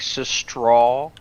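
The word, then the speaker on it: сестра: easy is it so it's like cis yeah with a straw at the end like straw like cis straw imagine an s and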